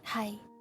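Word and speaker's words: 係: In Cantonese, it's always like hi. Unless you ask a question. Hi? You still raise up the last part a little bit. But if it is not a question, then it's always hi.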